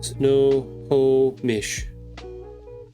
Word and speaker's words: Snohomish: Snohomish?